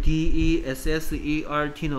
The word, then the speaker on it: dessert: 그 다음에 2번에 보면 여기에 DESSERT는 어떻게 읽고? Dessert라고 읽고 뜻은 후식이죠.